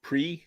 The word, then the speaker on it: prix: would be bo yeah because when it's just an x it's silent like pre like p r i x it's the grand prix it's not the grand